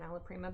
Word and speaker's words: alla prima: Jasmine, what does alla prima mean?